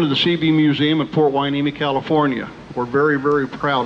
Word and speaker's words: Hueneme: And Port Hueneme is spelled Hueneme. Totally different than what you would think it is.